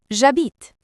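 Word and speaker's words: j'habite: The H in a is silent. So we contract a to jabit.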